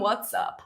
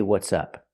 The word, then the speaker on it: WhatsApp: it's an app so it's pronounced what's app we use the short ass sound like black cat ah a not what's up but what'sapp what'sapp is